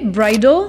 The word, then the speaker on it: bridle: d'intéressant mais en anglais bridle ça se prononce exactement de la même manière que bridal qui signifie relatif à